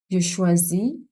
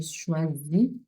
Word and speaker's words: choisis: Je choisis. Je choisis is Z sound because it's a single S found in between vowels. So it's pronounced as a Z sound. Je choisis.